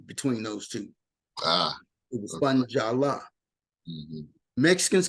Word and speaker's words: Funjala: No, Wayne, it's Jala. Funjala. Victor Orlando and Funjala. Wayne. F-U-N. Capital letters, Jala.